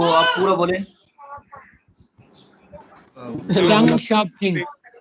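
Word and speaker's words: 邓小平: तो वो एहसन इकबाल बोल रहे थे, डेंग जाओ पिंग, डेंग बोल रहे थे। तो गलत नहीं बोलना है ना, जब सीख लेंगे तो फिर आपने सही बोलना है।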